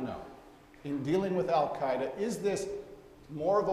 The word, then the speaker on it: al-Qaeda: Now, if we're going to learn anything else, let's pronounce al-Qaeda the way a Persian would pronounce it speaking Arabic. So al-Qaeda, right?